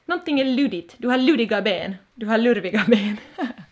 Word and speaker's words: ludig: Stavas ludig. Om man skulle vara en sån här proper finlandssvensk skulle man säkert uttala det ludig. Men jag säger ludi.